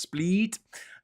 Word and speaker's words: Split: down here it looks like split but it's pronounced split and then down here you've got dnik uh